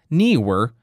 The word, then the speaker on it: Neewer: Thanks for contacting Neewer support team. It's pronounced like newer.